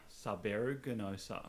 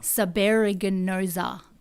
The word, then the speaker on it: subaeruginosa: Subaeruginosa. Ganosa. So it's kind of broken. I break it down into 4 different. Okay. I guess syllables. Yeah. So, eru. Eru. Gin. Yeah. Gin. Osa. Okay. Run it together.